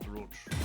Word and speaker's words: brooch: So, it's brooch like B R O O C H.